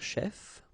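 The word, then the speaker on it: chefs: actually you don't pronounce this final s here or here okay so infirmier chef infirmier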